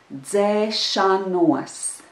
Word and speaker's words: dzēšanos: The letter combination d and z are pronounced together as if it was one sound, dz. And the syllable altogether is dze, dze, dze.